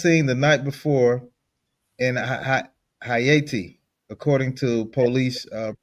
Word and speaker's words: Hayti: She was last seen the night before in Hayti, according to police uh You pronounce it Hayti. Hayti. Okay, Hayti.